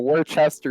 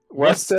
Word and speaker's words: Worcester: Second largest city in Massachusetts, and the name is incredibly hard to pronounce if you're not from here. So I don't blame you. If you were over the pond, it could be Worcester for sure. But sadly, there is no CH right now.